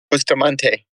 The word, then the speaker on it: Bustamante: Is it Bustamante? Is that how you pronounce it? Bustamante, yeah.